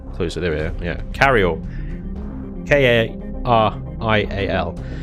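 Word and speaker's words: Karial: Carryall spelt with a K. I don't know if I can bring up the old console. Hang on, I need to get closer. There we are. Yeah, Carrial.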